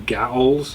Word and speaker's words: gaol: I guess they call them gaols. I don't know how to say it. G-A-O-L, gaol, gaol, gaol.